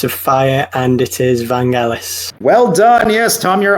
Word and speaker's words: Vangelis: film is Chariots of Fire, and it is Vangelis. Well done. Yes, Tom, you're on the board. That is, of course, the famous score from Chariots of Fire. We said pronunciation. I didn't know it was Vangelis.